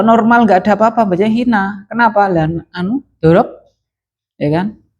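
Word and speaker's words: حين: Hina itu kok enggak hinu ya? Kok hina ya? Nasab itu kenapa nasab itu? Dorob. Hina itu apa Pak? Dorob. Maka bacanya hina, enggak pernah hinu ya.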